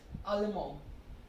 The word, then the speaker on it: Allemand: So for masculine singular, it is Allemand. You are not pronouncing the D here. Okay, it's Allemand.